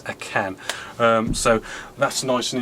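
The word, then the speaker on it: AKAN: It is actually um pronounced a can and um spelled aka an not pronounced a car and spelled ak a h.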